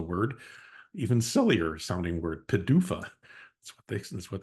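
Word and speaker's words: PDUFA: um that Pharma uses is is um called Padua it's my second acronym for you today which is pronounced as a word even sillier sounding word Padua that's what they that's what they say and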